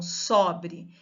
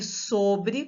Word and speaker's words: sobre: Então, sobre, com o aberto, eu tenho o verbo sobrar. E sobre, com o fechado, eu tenho a preposição.